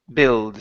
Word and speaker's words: build: Now, the important thing to remember here, Hugo, is that we do not pronounce that U. It's not going to be build. It's only build. So the U does not make a sound at all.